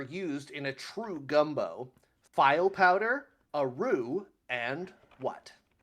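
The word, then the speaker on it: filé: Let me say I did research the pronunciation of every word in this and in creole cooking they say file powder not feeling powder.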